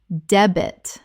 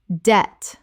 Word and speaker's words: debt: Common mispronunciation. Deb-it. Correct pronunciation. Debt. The B is completely silent. One syllable only.